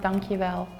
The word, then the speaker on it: dankjewel: So it's pronounced dankjewel.